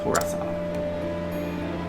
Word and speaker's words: Tressa: Toressa.